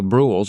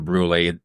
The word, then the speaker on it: Brulé: a comes in the bruls or the brues and I think that it's fair to say that either Bru or brulee today is interchangeable okay it's just a